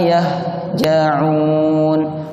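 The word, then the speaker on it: يهجعون: Huruf H itu diucapkannya di tenggorokan, bukan di dada. Yang di dada bunyinya seperti ini. Ma yahja'un, ditekan. Padahal huruf H ini termasuk huruf ar-rikhwah. Pengucapannya sangat lembut. Ada nafas dan suara yang mengalir saat pengucapannya. Jadi cara pengucapannya ibu-ibu, ma yahja'un, ma yahja'un, bukan ma yah.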